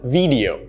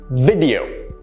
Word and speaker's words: video: read is horror genre this word is often pronounced as video that is incorrect the correct pronunciation is video video notice how it's not an e sound but an er sound video speaking of videos